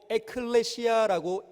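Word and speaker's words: ἐκκλησία: 저기 화면에 떠 있는 저 단어가 헬라어 원문입니다. 그리고 에클레시아라고 읽습니다.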